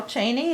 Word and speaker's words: Chaney: to and carol cheney is that correct correct and how do you spell your last name uh we spell it c-h-a-n-e-y okay as opposed to the vice president which is c-h-e anyway oh and jokingly i